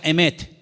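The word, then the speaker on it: אמת: conozca la verdad y la palabra verdad en hebreo se pronuncia emet y vamos a ponerla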